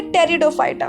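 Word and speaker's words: Pteridophyta: अब हम लोग पढ़ेंगे टेरिडोफाइटा। P silent is here.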